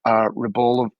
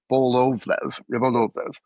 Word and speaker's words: Rybolovlev: In 2008, he sold a 6-acre Palm Beach piece of real estate to a Russian billionaire, Dmitry Rybolovlev. I got the name wrong, Rybolovlev.